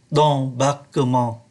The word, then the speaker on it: d'embarquement: La porte d'embarque ở đây ký tự M mà chúng ta để ý. Do bởi nó đứng trước ký tự B, thành ra phát âm là N, la porte d'embarquement.